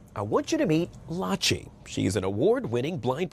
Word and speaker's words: Lachi: pronouncing your name correctly did I get it right Lai like Versace you got it I